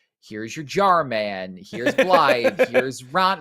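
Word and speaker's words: Blaidd: Spelled like Blade, but Blythe is how you pronounce it.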